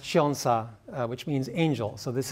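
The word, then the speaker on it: 천사: And then also in Korean, this 1004 is pronounced chionsa, which means angel.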